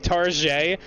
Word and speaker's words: Target: Oh, you do have Target there, but we tongue-in-cheek pronounce it as if it's a French word, so silent T as if it were fancy, like Target, because we literally do that here, dude.